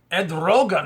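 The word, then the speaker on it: Erdoğan: trouble in Turkey but uh president of Turkey Ed Rogan is how you say his name uh said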